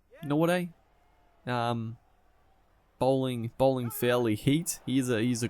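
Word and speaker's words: Nortje: As Norte, I think it's pronounced Norte.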